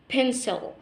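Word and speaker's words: pencil: دي بنطلع فيها هواء وخد بالك السي اتنطقت لان جه وراها اي خد قاعده عندك اكتبها في الكراسه السي لما يجي وراها اي او اي او واي تتنطق س بنسل بنسل بنسل بعد كده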